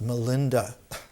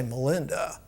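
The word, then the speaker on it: Milinda: In the ancient language of Ceylon, in Pali, Menander is pronounced Melinda. Pali is Sanskrit with a southern accent. We all can't say Menander, but we can say Melinda.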